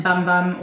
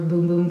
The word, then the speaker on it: Bum Bum: the sol de janeiro brazilian bum bum or boom-boom cream depending on how you'd like to pronounce it this is so addictive